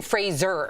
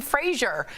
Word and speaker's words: Fraser: So it's Brendan Fraser. Yeah. Like Razor. Right, and then I watched the Adam Sandler interview. He kept calling him Fraser.